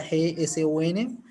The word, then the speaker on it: JSON: Los tres formatos que son los formatos clásicos serían los formatos JSON para web, se pronuncia JSON, y los de SSV para lo que serían el Excel común y Silvestre que conocemos.